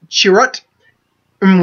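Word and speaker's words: Chirrut Îmwe: we have and his her name is pronounced she wrote em well played by Donnie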